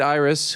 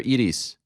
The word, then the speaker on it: Iris: uh Iris the great Iris who's been by your side for a long time is it pronounced Iris or Edis Iris Iris it's her birthday today